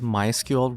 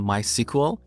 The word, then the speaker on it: MySQL: has a software product developers of this product prefer to call it MySQL rather than my sequel but they don't mind if we call it my sequel in this course I'll